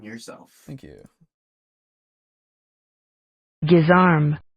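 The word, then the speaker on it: guisarme: pronunciation yourself thank you gizar giz arm gizar oh yeah which makes sense because if it's a French word I can see my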